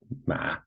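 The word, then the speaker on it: 马: So this character here, ma, is pronounced ma, and it means horse.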